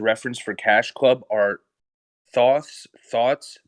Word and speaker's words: thoths: for cash club are thoughts thoughts that's spelled t-h-o-t-h-s underscore thoughts the way it sounds t-h-o-u-g-h-t-s uh in that